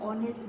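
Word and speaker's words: honest: नो में के is silent, bridge bridge में डी इज साइलेंट, ऑनेस्ट में एज, ऑनर में एज एंड आंसर में डब्ल्यू, डब्ल्यू क्या है इसमें साइलेंट है।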